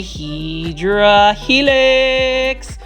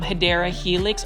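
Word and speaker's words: Hedera helix: see this one is a HRA helix or the correct way to say is um hyera helix or English ivy this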